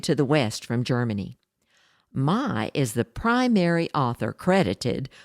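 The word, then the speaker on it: May: West one German author Carl Mai spelled m-a-y but pronounced my began writing exciting cowboy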